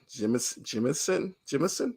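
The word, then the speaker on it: Jemisin: I've been saying her last name wrong. Jimison.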